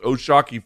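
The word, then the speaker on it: O'Shaquie: It looks like it's spelled Oshaki, but it's pronounced Oshaki Foster.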